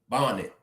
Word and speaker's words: bonnet: Bonnet, bonnet, bonnet. One N. Even though it got two N's in the spelling, but you pronounce it with one N.